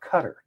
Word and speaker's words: Qatar: We call it Qatar, but they call it cutter.